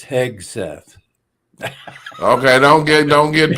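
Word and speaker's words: Hegseth: times Heth heg he Heth yeah it's not heg Seth it's heg Seth okay don't get don't get picky on me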